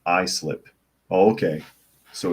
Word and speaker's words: Islip: have kids and New York Patriot says it's pronounced Islip oh okay so it's not Islip it's I